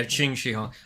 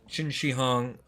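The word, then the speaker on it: Qin Shi Huang: They summon uh Oh, it's pronounced Chini. Yeah, Ching Xihong. I always get Yeah, that's the uh that's the dragon emperor. Uh Chin Xihong that they summon u armies and just have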